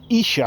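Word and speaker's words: Esher: i trained twins by 1150 from waterloo to isha i think if he should not actually i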